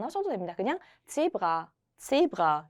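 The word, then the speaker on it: Zebra: 제브라 한 번 더 해볼까요? 제브라. 네, 근데 이거를 너무 강하게 안 하셔도 됩니다. 그냥 제브라, 요 정도로 하셔도 되고요.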